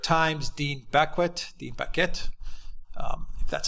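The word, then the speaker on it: Baquet: the New York Times the back whet the bucket that's how you pronounce his name anyway the executive editor decided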